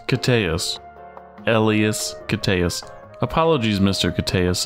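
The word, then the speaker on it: Koteas: ever heard that pronounced it's not elas Coes it's elas cus elas cus apologies Mr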